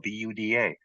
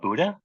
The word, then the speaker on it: Buda: just south of us called Buuda, spelled B U D A. It's not Buddha, it's Buda.